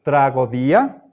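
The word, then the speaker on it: τραγῳδία: siguiente palabra dice traga la yota suscrita no suena es muda trago día bien por favor a ver que yo sepa Esto no es un diptongo aquí están dos vocales omega y yota pero se pronuncia trago día pasemos a latín tra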